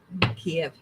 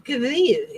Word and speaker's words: Kyiv: Kiev. It's Kyiv, isn't it? Kyiv is how they pronounce it.